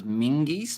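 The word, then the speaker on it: Menzies: Scottish Z is pronounced like a G. So it's Mingies?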